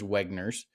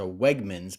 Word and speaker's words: Wegmans: First of all, there is not a grocery store in Pennsylvania known as Wegner's. He mispronounced the name of the store. There's a Reggie's and there's a Wegmans, but there's not a Wegner's.